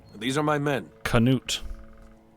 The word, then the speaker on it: Knut: rebel mercenary hey I'm Knut these are my men Knut could you cannot pronounce that K at the start of your name what are you doing